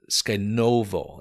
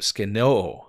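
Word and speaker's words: σκηνόω: It's skenovo. I may have mispronounced that. Skenoo, actually.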